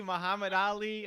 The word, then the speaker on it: Muhammad Ali: saved up i said it rhymes with bruce lee muhammad ali okay all right okay